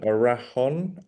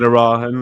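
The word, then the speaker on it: Erhahon: You might have to correct my pronunciation of these two names, but Ethan Arahon and Sean Ethan Arahan. That's right.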